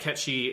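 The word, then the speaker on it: Cait Sith: But yeah, so I'm going to call the character Ketchi because that's how it's supposed to be said. And it would be like if you called me, because but it's spelled. It's the same kind of Gaelic spelling.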